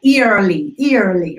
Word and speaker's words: early: because of the spelling, we think they're diphthongs and we start to blend them. So like early, right? Or something like that. Right. E into this early. Right. It's not a thing. It's spelled that way. I totally get why you would do that. Trust that it's a pure vowel, which means it doesn't bend. It's just a straight line.